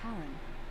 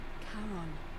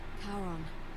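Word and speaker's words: Charon: is a little off the name you heard wasn't Karen it was c h a r o n as in karon the Fairman of the Dead karon who in exchange for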